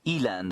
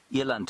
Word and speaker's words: eland: Eland aren't they lovely Eland I suppose is what I should be saying yant is the Africans pronunciation I got shouted at